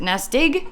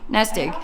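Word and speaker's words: Nestig: n s t i not sure how you pronounce it NES dig NES dig it sounds like Nest Egg cuz so it's kind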